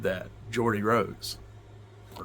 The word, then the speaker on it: Geordie: The guy who invented the quantum computer, the D-Wave quantum computer, said that, Geordie Rose. Or Gordy, some people say Gordy. It's spelled like Gordy, but I say Geordie, because that's how I've heard him pronounce it, but that's neither here nor there.